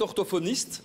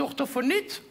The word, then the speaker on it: orthophoniste: Bien, votre parcours est impressionnant parce que vous êtes grammairienne linguiste, logopède orthophoniste, donc... Orthophoniste. Bien prononcer les consonnes, monsieur de Warzé, orthophoniste. Là, vous avez omis le T final. Ah, c'est orthophonite.